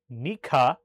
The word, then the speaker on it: Nika: When this was refused, the parties united and with the watch word nika, really working extra to pronounce that K.